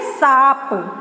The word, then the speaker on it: सांप: अभी है सांप, तो सांप को हम मात्रा के साथ जब लगा के पढ़ेंगे तो देखिए कैसा उच्चारण हम करेंगे, सांप को क्या बोलेंगे, सांप, फिर हो जाएगा आपका सांप।